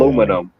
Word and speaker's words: aluminum: Aluminum.